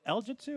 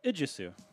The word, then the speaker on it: Ijisu: Also, I'm just realizing, is it Iljitsu or is it Ijisu? Oh, I thought it was L in the bracket. It's an I. So it's a capitalized. So we've been saying it wrong this whole time.